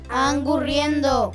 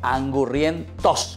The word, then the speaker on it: angurriento: Angurriendo. Angurrientos, con la T.